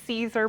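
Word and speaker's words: Siser: you can tell my favorite brand is the Caesar brand s-i-s-e-r is how it's spelled and that brand I find you get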